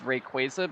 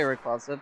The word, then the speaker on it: Rayquaza: Well, it's actually it's it's Rayquaza because that's how they spell it in Pokemon Team Turbo, which is the most official source possible.